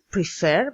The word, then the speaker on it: prefer: en la última sílaba, como podrían ser prefer, vemos que prefer tiene dos sílabas y la fuerza de voz está en la última, o begin también tiene